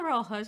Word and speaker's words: Rojas: pronuncia? Na realidade é Rojas, mas...